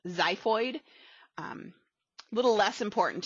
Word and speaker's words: xiphoid: the bottom is called the xiphoid process spelled with an x xiphoid um a little less